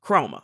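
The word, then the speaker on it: Khroma: They're both pronounced chroma, but one with a K, one with a C.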